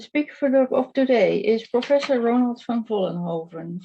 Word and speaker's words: Ronald van Vollenhoven: For not Dutch speakers, it's a difficult name to pronounce, but I can pronounce it better because it's Ronald van Vollenhoven. But international, you probably pronounce it differently.